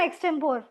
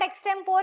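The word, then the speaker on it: extempore: is similar to this it's नॉट एक्सटेंपोर इज़ इट्स एक्सटेंपरी पी ओ आर ई होता है spelling but spelling pronunciation एक्सटेंपरेरी ठीक ठीक है grievous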